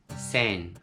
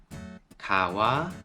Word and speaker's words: 川: And in Japanese, sen for onyomi, sen. Kawa for kunyomi, kawa.